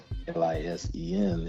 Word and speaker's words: listen: And yeah, it's not pronounced per se, but listen is listen, period. Lisen is how it's pronounced.